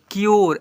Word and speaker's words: cure: पढ़ते हैं, Puro, SURE श्योर, यहाँ पर CURE क्योर, ऐसे पढ़ते हैं।